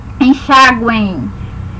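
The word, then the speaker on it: enxáguem: Enxaguem também é como se tivesse um izinho aqui que a gente fala de maneira bem fraca, né? Enxaguem.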